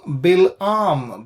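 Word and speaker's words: Bil'am: the son of beor English in English we pronounce it as balam uh but in Hebrew bam Ben beor bam Ben Bor so uh from where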